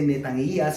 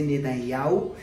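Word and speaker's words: נתניהו: No se dice Netanías, se dice Netanyahu, y así sucesivamente.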